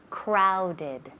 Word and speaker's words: crowded: Ese O suena como ow. Crowded.